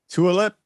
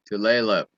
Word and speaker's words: Tulalip: It says uh Tulip Casino. Tulalip.